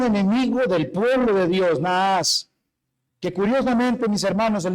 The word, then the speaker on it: Naas: Un enemigo del pueblo de Dios, Naas, que curiosamente, mis hermanos, el nombre de ese de ese hombre Naas, que ya vamos a ver, significa serpiente o Nah, sí lo lo lo lo pronuncian.